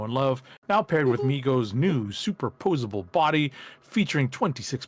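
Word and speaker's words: Mego: Next up, Migos, it's actually I believe pronounced Migo.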